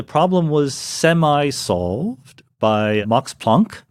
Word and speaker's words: Planck: And the problem was semi-solved by Max Planck, whose name I insist on pronouncing in the way he would have pronounced it, even though I don't say Einstein, so I'm not consistent.